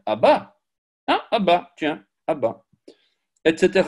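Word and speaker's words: אבא: Aleph, Bet, Aleph. Donc c'est Abba.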